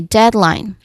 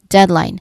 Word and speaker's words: deadline: Well, one tip I can give is that you ensure you pronounce the letter D at the end of you know the first syllable well clearly before moving to the second. Okay, deadline. Again, deadline.